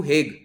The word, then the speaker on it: Hague: let's say theoretically to हेग, जहां पर आईसीसी काम करता है, ठीक है, जगह का नाम वैसे हाग प्रोनाउंस होता है, तो अगर उसे हाग